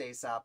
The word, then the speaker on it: Alsop: I believe it's pronounced Aesop. It's got to be Aesop. Am I right?